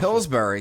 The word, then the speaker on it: Pillsbury: I don't know if Yeah, pronounce it. Pillsbury.